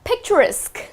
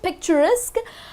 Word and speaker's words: picturesque: going to these dull places the next one picturesque okay that's how you pronounce this picturesque picturesque is a city which is absolutely charming